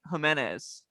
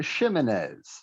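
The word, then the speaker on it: Ximines: gonna go with Oshane Jimenez. O'Shane Ximenez.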